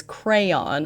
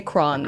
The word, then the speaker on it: crayon: Uh, I know it's crayon. I know the correct way to say it is crayon. I think I have to make an effort to say crayon. Mhm. Yeah, we say crown. Crown. Crown.